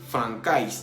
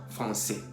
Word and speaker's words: français: Por ejemplo, français, para no decir francais, decimos français.